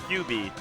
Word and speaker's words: 9B: Yeah, I believe in Japan the number 9 is pronounced Q, so his tag is QB, like the Fox character.